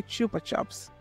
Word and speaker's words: Chupa Chups: takes me to my question how do you pronounce the name cuz I say Chupa chops how about you what do you say